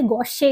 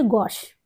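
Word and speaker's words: gauche: इसको कैसे प्रोनाउंस करेंगे ये ऐसा लग रहा है जैसे गोशे लिखा है इट इज नॉट गोश इट इज गोश जी ए यू सी एच ई गोश और इसको ये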